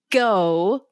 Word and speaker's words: Gough: who that guy is Michael Gao. His last name is spelled Gough.